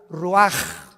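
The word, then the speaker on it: Ruach: Roach así como suena se pronuncia la c en hebreo como J ruaj se le só y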